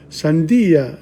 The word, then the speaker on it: sandía: Albaricoque, almendra, avellana, cereza, chirimoya, ciruela, dátiles, fresa, higo, limón, manzana, melocotón, melón, membrillo, naranja, pasas, pera, piña, plátano, sandía.